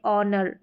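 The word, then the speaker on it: honour: ये जो स्पेलिंग्स है यहां पर ऑनेस्ट एच जो शुरू में आ रहा है और यह ऑनर आर तो यहां पर जो है एट साइलेंट है बिल्कुल इनको आप ऐसे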